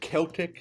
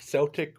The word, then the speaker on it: Celtic: There there's some Celtic, Celtic, what however you want to pronounce it. It could be pronounced both ways.